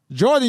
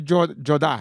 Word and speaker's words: Jourdain: is the white way it's French you should recognize it you're Haitian for real yeah how you say it was French yeah yeah we're not saying it no way you don't say it like that yeah no not at all I don't have an